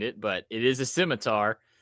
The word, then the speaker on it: scimitar: my number third it's is that actually how you pronounce it that is how you pronounce it okay so I didn't know probably got an accent behind it but it is a scimitar it's the one it's